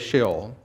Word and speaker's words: Sheol: but the word is shill and that's how it's pronounced in hebrew as well and it simply means